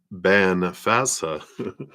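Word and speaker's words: Bean Feasa: The wise woman, pronounced Ban Fasa. Excuse me, I totally did not say that right.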